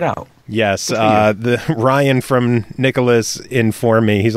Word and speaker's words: Nicalis: By the way, it is Nicalis, not Nicalis or Nicalis. It is Nicalis. Oh, so you finally figured it out. Yes. The Ryan from Nicalis informed me.